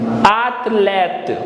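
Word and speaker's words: athlète: And then last we have T here, so athlete. E is silent, athlete, which means athlete in English.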